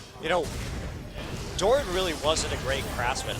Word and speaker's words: Doran: a man named Oren or if you're incapable pronouncing be ours like I am Dolan you know Doran really wasn't a great craftsman I know that